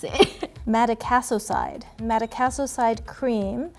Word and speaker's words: Madecassoside: routine this moisturizer okay so how do you pronounce it Matic a so side Matic a so side cream strengthens your skin